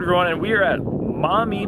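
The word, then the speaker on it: Maumee: All right, everyone, and we are at Mommy Park. I think that's how it's pronounced. Mommy! M-A-U-M-E-E. I'm going with Mommy, and if that's not how you pronounce it, too bad.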